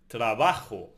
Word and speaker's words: trabajo: Work is trabajo in Spanish. What does trabajo end on? Right, on O. And the O belongs to nose. So where do we stress it? Exactly, at the penultimate syllable, trabajo.